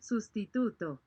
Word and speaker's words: sustituto: How is it pronounced? Sustituto.